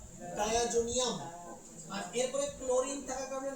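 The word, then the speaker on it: diazonium: অ্যামোনিয়াম chloride ঠিক আছে ওকে তাহলে আমরা উচ্চারণ করব ডায়াজোনিয়াম ডায়াজোনিয়াম আর এরপরে ক্লোরিন থাকার কারণে নাম কি ক্লোরাইড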